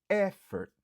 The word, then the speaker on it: effort: Effort. Effort. Qui signifie effort. Li gen 2 syllabes. Nap accentué sous premier.